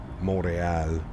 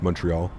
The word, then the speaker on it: Montreal: Apparently it's pronounced Montreal. Well, yeah, if you say it in French, Montreal. Yes, that would be it is. But to everybody else that doesn't speak French, Montreal.